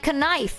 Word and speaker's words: knife: Fun fact, words like canite, canon, knife still have a K and used to be pronounced.